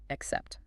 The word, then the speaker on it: accept: Pronounce accept clearly, ensuring the emphasis falls on the second syllable, except.